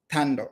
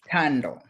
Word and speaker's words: Thando: Is it tando? Right. It's a silent h silent. It's tando.